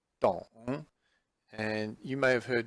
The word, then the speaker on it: 懂: And it is pronounced as 懂, 懂.